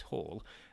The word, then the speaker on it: Hall: But your name stands out because I don't quite know why, but my wife often calls me Balls, which rhymes with my actual surname, which is Hall, but I don't think it's any reference to my balls, but she does often do that.